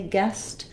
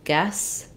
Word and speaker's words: guest: for you to say guest then you might want to try it without the T and then add the T back so guest guest also just visualizing